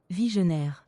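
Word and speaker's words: Vigenère: Visionaire. Visionire. There we go. Visionaire.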